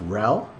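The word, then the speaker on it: Roell: The last name is spelled R-O-E-L-L, pronounced Rell.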